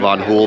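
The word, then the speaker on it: Van Hool: just finished uh hanging out at the Abc vanon hul Booth I learned how to properly pronounce vanon hul um but I just want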